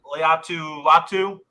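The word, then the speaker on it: Laiatu Latu: Leatu Latu, basically the same first and last name spelled different.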